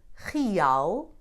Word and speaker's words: real: You can find it followed by a vowel not forming a diphthong, as in real, or the first E in compreender.